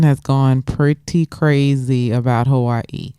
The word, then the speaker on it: Hawaii: from guess we're obviously Hawaii yes yes Hawaii that's the proper way to say it yes I learned that